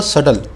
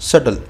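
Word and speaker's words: subtle: की व्रत इसके लिए वो डबल सटल इसमें बीच साइलेंट होता है इसको पुष्प ना करें इसको खोला जाएगा सटल सटल है न शेयर करें ब्लेंडर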